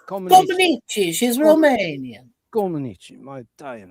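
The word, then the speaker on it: Comăneci: So Montreal was where I wanted to pronounce her name. Nadia Comaneci became the first gymnast to score a perfect 10 in the uneven bars event.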